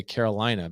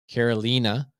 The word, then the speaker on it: Carolina: Her name is not how it is pronounced. All of us knuckleheads would say Carolina, but it's Carolina.